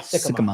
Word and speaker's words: Sikkema: I always pronounce his name correctly. Trevor Sikkema. Sikkema.